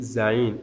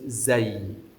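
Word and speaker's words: زاي: So, many people say zain. No. So, you pronounce it zay.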